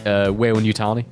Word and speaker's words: Weyland-Yutani: How do you pronounce it? Weyland-Yutani. Oh, Weyland-Yutani.